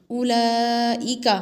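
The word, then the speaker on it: أولئك: उलाइका हमज़ा पेश उ, लाम खड़ा माद ज़बर ला, उला हमज़ा ज़ेर ई, उलाई काफ ज़बर का, उलाइका।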